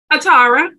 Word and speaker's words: Atarah: it's good to have you on and uh Atari am I pronouncing that right Atara Atara that's a beautiful name thank you so